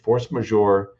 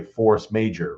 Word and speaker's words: force majeure: Or and usually misspell it and say force major, right? Like it's force and then it's Majeure.